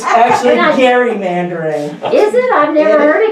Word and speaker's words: gerrymandering: And it's actually gerrymandering. Is it? I've never heard it called It is. As I live in a town where the Depends how Gary you Elementary pronounce School. jury. You pronounce it Gary.